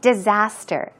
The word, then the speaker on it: disaster: And he says, "Disaster." Now, of course, we say uh disaster, but Peter pronounced it as disaster. The A is kind of pronounced differently. It's not a A, but a rather ah.